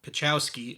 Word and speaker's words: Pachowski: by the name of Frank pachowski or pachowski as the man himself pronounces it lands a show on